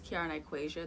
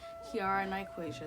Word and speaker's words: Kiara Nyquasia: My name is Kiara Nyquasia. That is how you pronounce my name. Because I know a lot of people have a hard time trying to figure out how to pronounce the last name. Kiara Nyquasia, that is how you pronounce it.